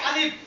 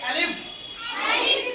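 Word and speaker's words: ألف: তাহলে উপরের শব্দটা কি আলিফ কি হচ্ছে আলিফ আলিফ আলিফ আলিফ আলিফ শেষে ফার মতো উচ্চারণ হবে শেষে কিসের মতো উচ্চারণ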